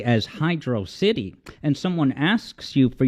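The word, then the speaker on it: Hydrocity: the younger side, right, he just flat out says, it's pronounced Hydro City, and that's the last word on it.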